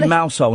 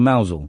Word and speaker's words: Mousehole: So if they say Mousehole instead of Mousel?